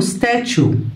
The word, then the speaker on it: statue: هنا تدي صوت شو كده okay. والاي دي اي ماجيك يعني مش بتتنطق في نهاية الكلام. طب تمثال اسمه statue statue statue.